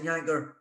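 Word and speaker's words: Jancker: from Michael Ballack and Karsten Janker, rhymes with you know what.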